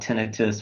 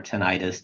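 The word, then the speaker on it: tinnitus: ringing in the ears which is called tenius or tentis depending on how you like to pronounce it typically that muffled sound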